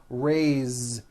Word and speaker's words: raise: a bit unusual because even though it is spelled with an s it's pronounced with a voiced z raise so we say i